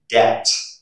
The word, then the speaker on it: debt: And the second rule you should remember is the letter B is not pronounced before the letter T. For example, doubt, debt, subtle, doubtful.